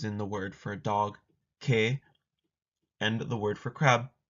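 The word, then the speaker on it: 개: They are romanized as e and a, respectively, but there's no pronunciation difference when you're speaking. Historically, they were pronounced differently, but if you ask a modern Korean, they will not make a distinction.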